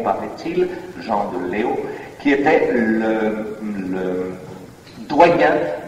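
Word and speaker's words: Leeuw: de nous disons l'UVE il faut prononcer Léo par est-il Jean de Léo qui était le le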